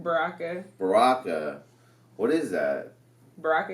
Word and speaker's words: Baraka: How do you pronounce the last name? Baraka.